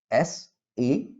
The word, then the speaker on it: SAP: So that is why three, okay, alphabets we pronounce SAP, and data processing is silent.